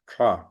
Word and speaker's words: श: इस श अक्षर को तालव्य शकार कहते हैं। इस अक्षर को मुंह के अंदर तालु स्थान में, अर्थात दांतों के ऊपर, ये यहां पर दांतों के ऊपर, ठीक है ना, तो यहां पर जीभ लगाकर उच्चारण, श, श, है ना,